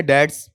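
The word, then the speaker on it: debts: ये उच्चारण में आप बच्चों को बार बार सिखा चुका हूं, बताओ डेब्ट्स है या डैड्स। इसमें बी क्या है, साइलेंट, कर्ज के लिए, ऋण के लिए आता है, ठीक है।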